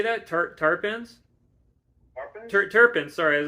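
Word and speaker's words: terpenes: Terpins.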